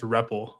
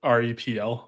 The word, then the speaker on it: Reppel: It's it's actually pronounced reppel like re pl like the thing you interact with in a terminal.